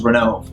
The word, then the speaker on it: Ronove: it here we go renault pronounced as ron ovae interesting ronov i i'm the way i'm going to pronounce it is renault okay renault can teach